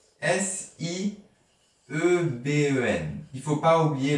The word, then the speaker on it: sieben: S-I-E-B-E-N. Il ne faut pas oublier le E de sieben. Il y a un E qui ne s'entend pas. Sieben.